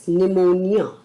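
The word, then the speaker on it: pneumonia: letter is निमोनिया और निमोनिया की spelling है पी एच ई यू एम ओ एन आई ए निमोनिया शब्द start हो रहा है पी से जबकि हम निमोनिया में जब हम उच्चारण कर रहे हैं तो पी शब्द का इस्तेमाल हमने नहीं किया तो यहां पर पी साइलेंट है तो इसके अकॉर्डिंग टू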